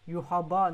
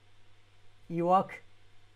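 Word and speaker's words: Yhwach: Il y en a, il dit Yuhaba, non. Iwak. Pour moi, c'est la meilleure façon de le prononcer.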